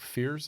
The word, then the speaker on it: Fiers: Is now writing stuff for The Athletic, and he's reporting that a former Astros pitcher, Mike Fiers, is that how you say it?